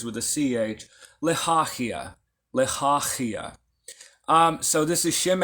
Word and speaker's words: Lehahiah: So properly pronounced, it'd be Lehahiah. Lehahiah. Say it with me, y'all. Lehahiah. So the second letter H is actually a Ch.